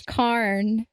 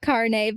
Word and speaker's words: Karn: You know, I didn't realize that, but it is Karn. It's not Carne, but it is Karn.